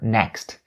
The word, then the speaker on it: next: Another point that I want to talk about for the word next is the k sound in the middle of the word next. When you say next, the k sound is actually being stopped within your throat.